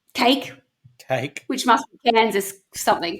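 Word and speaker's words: KAKE: The television station is spelt K-A-K-E, cake, which must be Kansas something, K-E, I don't know.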